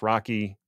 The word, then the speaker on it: RoCE: unfortunately the implementations of RDMA over ethernet including Rocky rce yes it's pronounced Rocky deepai and iarp which I'm sure stands for